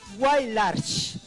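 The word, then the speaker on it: Huaylarsh: Bien, la manera de pronunciar correctamente de la palabra es Wailarsh.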